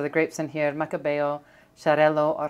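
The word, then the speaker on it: Xarel·lo: grapes in here macabeo charello or jarello i've heard different pronunciations the x in catalan is a ch sound this is so good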